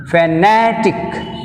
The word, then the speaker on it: fanatic: Fanatic, fanatic, na, tick 1, na, 2. Second syllable from the end means n.